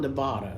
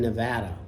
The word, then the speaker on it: Nevada: that by the way it's not Nevada they they told me right away nuh you're in Nevada not Nevada I'm like oh okay